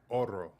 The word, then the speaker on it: Oro: Huru is the title. It's Oro. Oro.